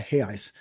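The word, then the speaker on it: reais: the Brazilian real or they call it hey ice because I think they don't they don't pronounce the r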